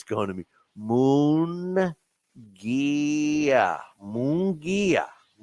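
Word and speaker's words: Munguía: uh in interesting to see okay what I'm pronouncing it wrong again it's uh mongia right what did I say muga okay yeah it's mongia I was I actually learned how to say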